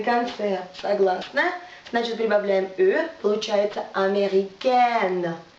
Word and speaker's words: américaine: Américain, на конце согласно, значит прибавляем получается américaine. Произношение меняется. Еще раз. Américain, носовой звук américaine.